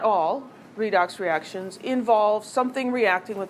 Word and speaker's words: redox: reduction lots of syllables it's often called a redox reaction reduction oxidation always reminds me of red box and makes me want popcorn but it's redox without the beat so many but not